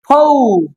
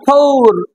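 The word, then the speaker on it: four: আর যদি শেষে থাকে, যেমন এফ ও ইউ আর, ফৌ, নট ফৌর, British উচ্চারণ অনুযায়ী আমাদের আর এর উচ্চারণের রটা হবে না, ফৌর।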